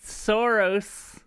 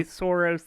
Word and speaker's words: Saros: They opened with Saros. I forget how to pronounce it. I always want to say Soros, like that guy.